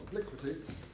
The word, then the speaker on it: Obliquity: And his latest book, which I'm told is should be pronounced Obliquity. I was toying with Obliquity, but it's Obliquity, was published in 2010.